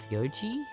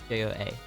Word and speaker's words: feijoa: Feijoa. J-O-A. Feijoa? See, I'm trying to pronounce it similar because it has the last two letters are like Aotearoa.